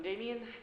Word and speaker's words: Damian: Is it Damon or Damian? Hey, good. He has voice acting. Really? Well, uh, whatever time it is. It's hard to tell these days, huh? I'm Damian. Okay, I said it right the first time for an extra pair of hands.